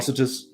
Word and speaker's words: Atrocitus: Like atrocious or something like that. Right? Atrocitus.